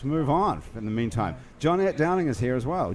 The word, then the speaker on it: Johnette: It's spelled Yeah. John E-T-T-E, Right, not Jeanette. But do you say Right. Johnette or do you say Jeanette? Johnette. But in Johnette. Louisiana, I get a lot of Jeanette.